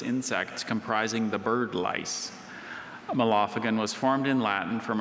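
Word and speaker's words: mallophagan: Malophagan. Can you please give me all the information? Certainly. Malophagan is an insect of an order of secondarily wingless insects comprising the bird lice. Malophagan was formed in Latin from originally Greek elements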